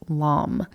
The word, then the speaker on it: lame: The word is spelled Lame, and yes, it is pronounced lame.